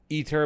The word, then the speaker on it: Aether: the flip ears ether pronounced ether but spelled a e t h e r and on the left